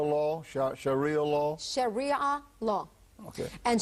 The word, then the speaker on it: Sharia: Tell us a little bit about how do you pronounce it? Shara law. Sharia law.